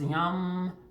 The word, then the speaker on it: Yam: the color is green the sound is Yum it's spelled like yam the element is air